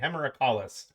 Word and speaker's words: Hemerocallis: No one asked you to say the Latin, but you just it's like hemorrhoid but callus at the end. So I'm just gonna say hemorrhacalis.